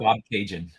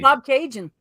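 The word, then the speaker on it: Bobcaygeon: mags or Greg's Greg to help with this pronunciation Bob Bob Cajun thank you oh Bob Cajun yes yes yeah so that's where this photo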